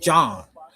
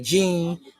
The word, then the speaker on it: Jean: So my name is pronounced Jean, but I don't pronounce it that way. I pronounce it John. I said because usually people see me, they say Gene, and I said, and